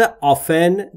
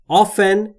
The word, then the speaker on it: often: دوستان در مورد تلفظ often دقت بفرمایید. دو صورت تلفظ میشه. often یا often. میشه گفت 50% از انگلیسی ها often تلفظ میکنن، 50%شون often و هر دو تلفظ هم رایجه و کاربرد داره.